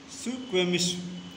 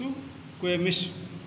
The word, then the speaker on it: Suquamish: Suquamish. Pronounce with me. It is Suquamish.